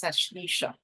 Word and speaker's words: Ashlesha: the L chatra of asesa ashisha depending on on your pronunciation mine may be off but it's ashisha and so um and